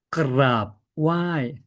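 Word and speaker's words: กราบไหว้: 자, 그랍 와이 그랍 이때 알 발음이죠.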